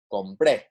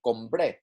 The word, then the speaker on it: compré: As I said, the yo y usted, el, ella forms of all 3 conjugations have written accents on the last syllable to show that it is stressed, but also it does help us identify that it is different from another word that is spelled the same. For example, compre, compré, right? Compre, compré, okay?